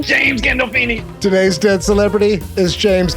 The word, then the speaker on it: Gandolfini: James Gandolfino, is that how you say his name? James Gandolfini.